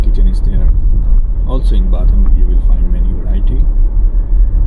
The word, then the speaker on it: Bad: pronounced in English like bad but is not bad in Germany in German language uh bad is pronounced bath and it means uh